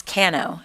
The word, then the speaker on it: Cano: high school English teacher spelled your her name just like yours but pronounced it Kano so thanks to miss